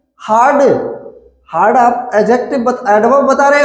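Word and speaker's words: adjective: रहा है, वो अब एडजेक्टिव हो गया है। क्या हो गया है? एडजेक्टिव। कुछ लोग इसको प्रोनाउंसिएशन एडजेक्टिव करते हैं, ए और जे के बीच का डी नहीं बोला जाता है, एडजेक्टिव बोला जाता है।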